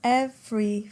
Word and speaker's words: every: Notice that every is 2, not 3, although you could perhaps pronounce it with 3, every, but it doesn't sound very natural. Every.